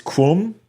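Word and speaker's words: Qom: nans and yes it's it's Kum I believe but it's spelled with a Q you have Tran up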